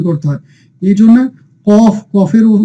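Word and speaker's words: قاف: তো প্রিয় শিক্ষার্থীগণ, কাফ এবং কফের মধ্যে পার্থক্য হচ্ছে কাফের উচ্চারণটা অতটা উঁচু হয় না, অর্থাৎ কফের উচ্চারণটা আপনাকে একটু উঁচু মোটা করে পড়তে হবে।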